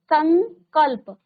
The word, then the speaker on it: संकल्प: संकल्प, संकल्प, अब उच्चारण क्या कर रहे हैं हम, संकल्प। किसका उच्चारण आ रहा है, अंग का, अंगा बोलते हैं ना, संग।